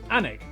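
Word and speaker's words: Alnwick: in quernmore quma before finishing up in alwick anik which is near Newcastle or as the people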